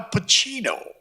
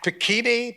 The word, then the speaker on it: Pacino: wow, first of all, he said, Al Pacino. He pronounced my name right. That never happened. I went to a whole school, in public school, they never, Paquin, Pacuno, Pacani, that kind of thing.